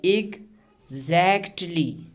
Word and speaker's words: exactly: the pronunciation and I exactly when we pronounce this tussin it takes lot of effort now in order to reduce this effort we just we are going to drop it now see exactly exactly how exactly did you